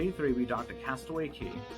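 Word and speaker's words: Castaway Cay: would have been day three we docked a castaway key spelled k pronounced k disney's private bahamian island it's a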